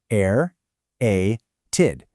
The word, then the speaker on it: aerated: The pronunciation literally forces you to articulate three distinct vowel sounds back to back. Air a-ted. Whatever you do, never drop that hidden internal E.